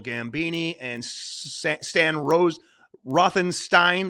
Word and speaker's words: Rothenstein: While driving through Alabama, New York college students Bill Gambini and Sa San Rose Rothenstein, they pronounce it Steen in the movie, of course, a funny little joke.